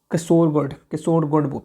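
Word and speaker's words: Kasaragod: केसोरगढ़ पे बोल सकते हो, केसोरगढ़। हम लोग नॉर्थ इंडियन लोग जो होते हैं ऐसे ही नाम पढ़ लेते हैं गढ़ गढ़ करके, मगर ऐसा नहीं है। केसोरगढ़ उसको प्रोनाउंस कर सकते हो।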